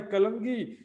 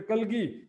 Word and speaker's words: कलगी: करें और का भाई कलंगी इस समय कलगी कलंगी लिखें सुंदरसाथजी शुद्ध उच्चारण है कलगी कलगी जो है यहां